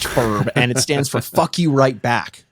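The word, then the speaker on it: F.U.R.B.: f-u-r-b by Frankie and that's not pronounced Furby it's pronounced Ferb and it stands for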